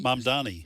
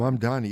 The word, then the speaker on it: Mamdani: How do you pronounce his last name? Mamdani? Mamdani. Mm-hmm. Mamdani.